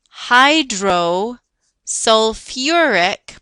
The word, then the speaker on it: hydrosulfuric: this is an acid Hydro sulfuric put that syllable in there hydrosulfuric acid say it in your head with me hydrosulfuric acid H2S binary